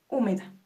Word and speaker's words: húmeda: esperen aún nos queda una húmeda H me da u me da Hum Me da sí se acentúa es una palabra esdrújula lo ven es